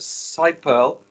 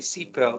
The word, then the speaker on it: SiPearl: chief strategy officer of side pearl i like to say c pearl because it sounds more frequent but uh you will tell us how to pronounce it um and this is